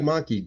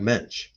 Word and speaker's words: Mensch: Not Doug Menke, Doug Mensch. That's right. That's how you say his name, Mensch.